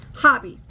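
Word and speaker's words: Hobbii: in here it's from Hobby um h-o-b-b-i-i in Denmark or Hobie however be however you pronounce it um someone that lives in Denmark actually told me it was pronounced hobby so that's how I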